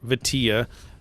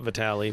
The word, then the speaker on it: Vitilla: I've heard some people say it with like an A sound, like Vitilla, but it's Vitilla. Support Ukraine. Vitilla, not Vitali.